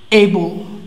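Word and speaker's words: able: এখন দেখো এটা হচ্ছে এইবল, এইবল, এটা হচ্ছে অ্যাপল, এইবল অ্যান্ড অ্যাপল, এইবল অ্যান্ড অ্যাপল।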